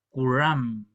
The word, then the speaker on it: kuram: ahora que estamos revitalizando, vamos a usar el sonido más estándar de todas las variantes con la punta de la lengua hacia atrás. Entonces, aquí tenemos tres palabras que son interesantes. Kuram, kuram.